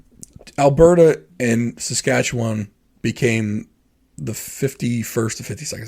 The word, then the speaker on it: Saskatchewan: Um, by the way, that is the proper way to say Saskatchewan, not Saskatchewan. You know, say all the letters, you kind of roll Saskatchewan.